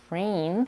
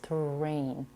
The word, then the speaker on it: train: a in both words the first sound in the word train is pronounced as something between the T and CH as in the word choice this is common when we have a TR combination in the same syllable train versus trrain do